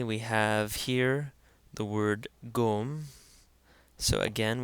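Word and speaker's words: ϫⲟⲙ: Finally, we have here the word gom. So again, we have the Ganga taking on a hard G sound since it's followed by a short O.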